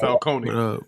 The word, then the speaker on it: Falcone: FAL but it's really should be pronounced Falcone but you know I